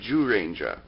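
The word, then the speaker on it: Zyuranger: from 1992's Kyoryu Sentai Juranger? I know, it's spelled with a Z, but it's actually pronounced with a J.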